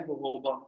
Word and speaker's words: जोजोबा: तो ये जो स्क्रब है हमारा, ये स्क्रब क्या है, इसके अंदर डले हुए हैं जोजोबा ऑयल। जोजोबा वैसे लिखा होता है, वैसे उसकी प्रोनाउंसिएशन राइट है जोजोबा।